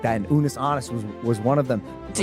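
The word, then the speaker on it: Unus Annus: It is called Unis Annis. Did I pronounce that correctly? No. How does it pronounced? Unis Annis. Honest.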